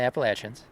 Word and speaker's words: Appalachians: And we are in the Appalachians. Yep. And that's how they say it here. That's right, yeah. So nobody write in calling me out on that. Right. We're speaking locally.